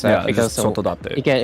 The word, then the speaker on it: Sotodate: And then for Sotodate, it's very self-explanatory. It's just keep the pronunciation slower, if that really helps. Because Sotodate.